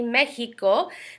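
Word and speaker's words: México: letter X Eis de Mexico de Mexico so the letter X is Eis the Mexico see Mexico the X in this case is going to sound like an H see so how to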